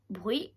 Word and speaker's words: bruit: Le bruit. Au bruit, il y a un T à la fin au bruit.